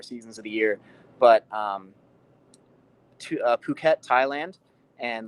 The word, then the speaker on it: Phuket: Is that how you pronounce it, Phuket? Because I've always called it like fuck it. Like, is it Phuket? It's Phuket, yeah. I am an uncultured swine,